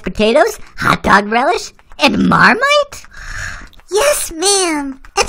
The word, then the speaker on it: Marmite: with lumpy mashed potatoes hot dog relish and marmite yes ma'am and it's pronounced mere might oh right we do horse puns and stuff